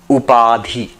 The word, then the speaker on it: Upadhi: Upadhi in um if you want to spell it up a d h i up p a d h iadi.